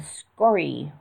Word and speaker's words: skory: Then learn "stupy" and "skory," which are also accented on the ultimate and have a meaning equivalent to "poshoy."